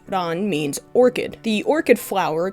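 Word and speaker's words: 蘭: The first, pronounced ran, means orchid.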